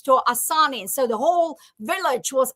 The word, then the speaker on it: Asanin: It's actually Asanin. So, but Asanin.